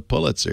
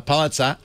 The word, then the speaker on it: Pulitzer: See, you Bostonians know how to pronounce that correctly. A lot of people in the rest of the country call it a Pulitzer, but we know better. We know it's better. It's a Pulitzer.